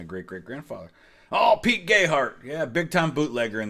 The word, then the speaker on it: Gayheart: great grandfather oh Pete Gayheart yeah big time Bootlegger in these parts I'm like yeah I've heard that and they do they pronounce the name Gay heart down there which is why folks